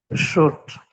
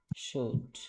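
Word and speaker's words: should: জি, আপনি উচ্চারণটা বলেন তো। শুট। শুড, okay fine.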